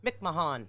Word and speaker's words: McMahon: No, it's McMahon. Okay, I'm not going to spend that much time on it. McMahon.